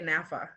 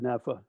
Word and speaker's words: NAAFA: n-a-a-f-a or was it did you guys always say nafa yeah we always said nafa one of our goals in the beginning was to make it pronounceable and naacp is not pronounceable you have to you have to spell it out so it's kind of